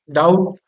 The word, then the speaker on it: doubt: जैसे डाउट बोलते हैं, DOUBT, डाउट, इसमें बी साइलेंट होता है, बी नहीं पढ़ते, डाउट, डाउट पढ़ते हैं।